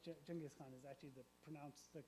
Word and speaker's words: Genghis Khan: Genghis Khan is actually the correct pronunciation.